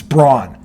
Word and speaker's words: Braun: By the way, I don't care how you pronounce it. It's Braun. Braun is Braun, not Brown. Brown is Brow.